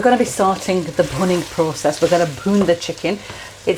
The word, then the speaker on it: bhuning: It's not with a P, it's with a B, so it's bhuning. I know it might sound as if I'm pronouncing it with the P, but it's not, it's the B.